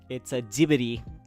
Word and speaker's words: Ghibli: My favorite, it's a Ghibli. It's Ghibli, not Ghibli. Anybody who pronounces Ghibli, that's the wrong. I can back that up because that's how it's pronounced in the original Italian word too.